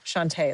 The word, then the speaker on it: Shantae: It's Shantae, not Shantae. My bad. Okay. It's Shantae. Shantae is how we pronounce it.